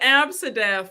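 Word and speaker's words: Abcde: They pronounced it Absidef. That's how they pronounced it.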